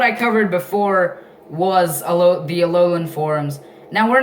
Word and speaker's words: Alola: Yes, it is pronounced Alola. Alola. Yeah, kind of like Aloha, but Alola.